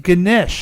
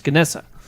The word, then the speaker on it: Ganesh: net it's good Nick Ganesh Ganesh is another word for it but in another they're nouns pronunciations kanessa there's also Ganesh that's another way of saying this all right yeah